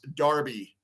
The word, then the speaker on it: Derby: the MLS with a New York Derby pronounced Darby it would be great